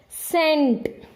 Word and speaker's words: scent: If any word, if S and C are side by side at the beginning, then C will not be pronounced, only S will be pronounced.